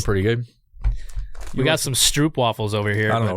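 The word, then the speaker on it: stroopwafel: So it's like Stroop waffles have a bunch of honey inside, and they're covered in chocolate.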